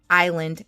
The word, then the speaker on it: island: learning to read uh I pronounced island island and everybody laughed all the kids laughed at me and I was so embarrassed um but literally is l n d come on that is Island even though I know